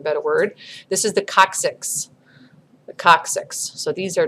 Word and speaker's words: coccyx: So it has a hard C followed by a soft C, coccyx.